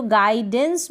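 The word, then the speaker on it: guidance: फिर यहाँ पर जैसे गाइडेंस है, तो गाइडेंस में भी हम देखेंगे कि यू का प्रोनाउंसिएशन नहीं हो रहा है, यू यहाँ पर साइलेंट है, क्योंकि जी इंग्लिश का जो लेटर जी है उसके बाद यू है।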